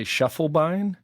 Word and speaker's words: Schiefelbein: You know, you got Be A Dude correctly, but I say my last name I say Schiefelbein.